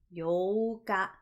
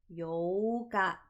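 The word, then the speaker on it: 八日: The 4th is Yoka. Yoka. There is a pause in the middle. The 8th is the exact opposite of that. We lengthen out the O sound. Yoka. Yoka.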